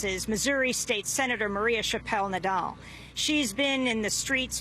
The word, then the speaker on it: Chappelle-Nadal: Brown was killed and protests erupted uh Senator Chappelle Nadal we welcome you to democracy now thank you